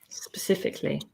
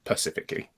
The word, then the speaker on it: specifically: Um, most hated grammatical error or mispronounced word specifically as in when people say it pacifically.